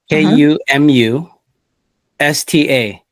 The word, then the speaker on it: kumusta: it is spelled K-U Oh, K-U-M-U-S-T-A, and that is one word.